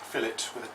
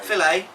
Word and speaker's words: fillet: But, We'll activate fillet with a T, not an A. Filet.